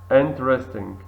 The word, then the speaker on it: interesting: wood wood wood Sil interesting inter interesting e silent here interesting interesting where where not where